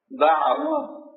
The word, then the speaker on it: দাওয়াত: দয়াশীল ব্যক্তির পক্ষ থেকে দাঈ, আমরা বাংলাতে দাওয়াত বলি, দাওয়াত শব্দ দাওয়াত, আইন আছে, তোরা আইনটা উচ্চারণ করে দাওয়াত।